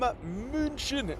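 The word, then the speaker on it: München: We are live from Munchin, as the locals say. Yeah, Munchin.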